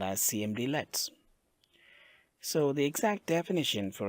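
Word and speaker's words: cmdlet: are actually called as CMD lets so the exact definition for a CMD let which we pronounce it as a command let is a lightweight Windows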